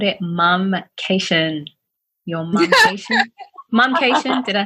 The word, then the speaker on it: Momcation: Your Momcation?